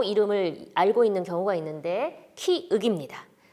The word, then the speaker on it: 키읔: 때문에 기역 때문에 자꾸 혼동이 와서 키역 이렇게 발음을 하고 이름을 알고 있는 경우가 있는데 키윽입니다.